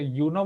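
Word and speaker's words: Uno: कौन सी आती है, आप उसे यूनो बोलते हो या ऊनो बोलते हो? What is it's correct pronunciation? Sir ऊनो। उनो।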